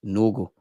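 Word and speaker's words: Nørgaard: Norard is pronounced Nogle.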